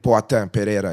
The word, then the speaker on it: Pereira: Yeah, Alex Pereira, yeah.